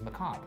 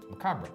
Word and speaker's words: macabre: But the correct pronunciation, there's two. If you go to Oxford Dictionary and like a bunch of other ones, Merriam-Webster, they have two pronunciations, which is uncommon. Normally there's only one. One pronunciation is macabre. The other one is macabre.